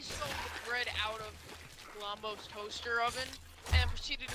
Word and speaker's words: Glombo: Don't mispronounce his name. What is it, Bombo or Blombo? Glombo.